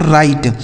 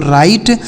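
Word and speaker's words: write: राइट। डब्ल्यू आर आई टी ई। इसे पढ़ा जाता है दोस्तों राइट। राइट का मतलब हो जाता है लिखना। देखिए यहां जो डब्ल्यू लिखा गया है ना यह साइलेंट है।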